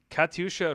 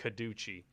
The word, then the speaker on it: Katyusha: rocket on the stream it cracks me up every time you pronounce it like kaduchi or could do rockets kadusha douche rockets there are rockets they've fired at us in iraq so apparently that's not the correct pronunciation it didn't matter they